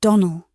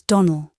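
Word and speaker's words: Donnell: Clarice Almyra told me that you pronounced our name Donald. Now, Miss Shirley, the correct pronunciation of our name is Donald, accent on the last syllable.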